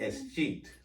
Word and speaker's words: escheat: Escheat.